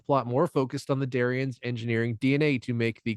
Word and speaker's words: Darian: more focused on the darion's engineering DNA to make the quote unquote perfect race Darion rhymes with Aryan get it this episode that is